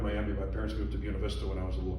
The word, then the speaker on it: Buena Vista: My parents moved to Buena Vista when I was a little kid.